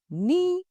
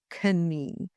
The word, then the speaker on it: knee: The silent letter K. The word no, it sounds like no in yes or no and not know. The word knife, pronounced knife and not knife. The word knee, pronounced knee and not knee.